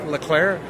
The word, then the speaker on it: Leclerc: when he said, when John was introduced him as Eric Leclerc, and he said, no, the C is silent, so it's Ari Leclerc.